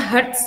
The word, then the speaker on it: Hz: Bunyi Hz itu dibacanya Hertz ya.